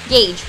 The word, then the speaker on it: gauge: there goes the G I don't know how to pronounce that word g a u g e j g gage g gage g a u g e gagee right Gage oh North America exclusive